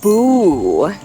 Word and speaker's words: boo: Ghosts say boo. And we spell it out with B-O-O, boo. When we see 2 O's together like this, that makes the ooh sound, like boo.